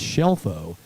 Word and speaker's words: Shelfo: Uh it's it's Shelfo." She said the pronunciation shelf.